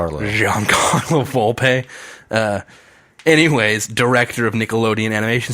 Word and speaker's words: Giancarlo Volpe: just I I listen I read the word the name Guillen Carlo Volpe which I probably just butchered that I am sorry it's Giancarlo Volpe anyways director of Nickelodeon